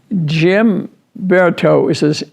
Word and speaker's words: Guimberteau: Gene Caude, Caude, and Jim Berto is how it's said, but I'll spell it to you.